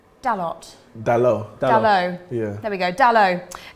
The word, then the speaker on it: Dalot: Dalot.